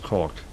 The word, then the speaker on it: caulk: Like have by h by altering the geometry or by adding c a l k which is pronounced caulk which sounds uh salacious but is not to fill in the gaps which is also of course what you do elsewhere.